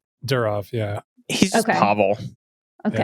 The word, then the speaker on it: Durov: Telegram CEO Pavel, how do you pronounce his last name? Durov, yeah.